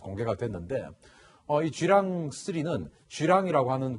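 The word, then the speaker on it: 巨浪: 그러니까 쥐 랑스 리즈 이 우리말로 읽으면 더 랑이 되서 큰 파도 거대한 물결 이렇게 해석을 할 수 있을 것 같은데 중국식으로 발음하면 주랑 일하고 있습니다 7 황원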